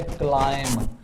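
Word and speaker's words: climb: हम डिस्कस करते हैं पहला रूल है बी आफ्टर एम मतलब जब भी बी ए यानी आफ्टर एम एम के बाद जब बी आ जाता है तो फिर हम क्या करते हैं कि वो साइलेंट हो जाता यानी बी हमारे पास साइलेंट हो जाएगा जब यह एम के बाद आएगा जैसे देखें हमारे पास पहला वर्ड जो है वो है क्लाइम इसमें सी एल आई एम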